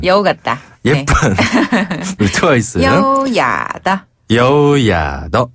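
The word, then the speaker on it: 优雅地: 여우야더. 한 번 다 여우야더. 어, 참 여우 같은 여우 같다. 예쁜 루트와 있어요. 여우야더. 여우야더. 네. 여기서 여우야는요. 한자 우아하다 할 때의 그 우아를 발음 그대로 중국식으로 여우야라고 해요.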